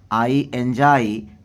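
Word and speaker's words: enjoy: तो आई एंजॉय मैं पसंद करता हूँ टू रीड पढ़ना।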